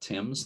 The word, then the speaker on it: Thames: the mouth of the thames river that is how they pronounce it there not tim's like in england the thames river between new london and